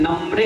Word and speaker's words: नम्रे: माँ में ऊपर रेप भी है, नीचे भी एक लाइन है और हा का उच्चारण है, नम्रे है।